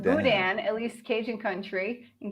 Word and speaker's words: boudin: Someone explained this, Ron from Overcoming Carbs, pronounced boudin, at least Cajun country.